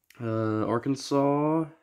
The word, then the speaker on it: Arkansas: Better not try to pronounce Arkansas phonetically.